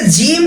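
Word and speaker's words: ج: অনেকে জিম এবং জায়ের মধ্যে প্যাচ লাগিয়ে দেয়, জিমকে বলে জিম আর জাকে বলে যা।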